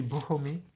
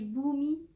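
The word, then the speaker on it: Bhoomi: Ça se dit Boomy. Et toi, Bon, t'as dit Boomy.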